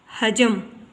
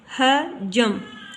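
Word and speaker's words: حجم: हजम, हजम, ये सही तलफ़्फ़ुज़ है इसका हजम। किताब में पेश दी गई है हे के ऊपर, लेकिन सही तलफ़्फ़ुज़ में इसकी हे के ऊपर ज़बर है, पेश नहीं है, ये ज़बर है।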